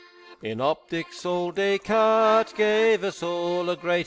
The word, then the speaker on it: Descartes: got here their pronunciation it's a French word Descartes so it's pronounced like Descartes these subscript dies pronounced